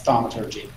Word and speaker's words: thaumaturgy: How would you pronounce that? That's thaumaturgy. Sure, thaumaturgy.